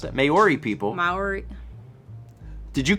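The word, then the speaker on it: Māori: the Mari Fiore may or is how you pronounce that Maori people Maori did you correct me and then tell me that you don't know Maori marry Maori Maori was i right is it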